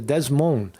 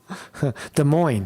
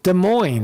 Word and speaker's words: Des Moines: bring your camera to Desmond Desmond Des Moines excuse me I keep pronouncing it right wrong Des Moines there's no s in it Des Moines Iowa July